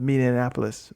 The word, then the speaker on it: Minneapolis: I just butchered the pronunciation of Minneapolis. I did it again. Minneapolis. That's just it there.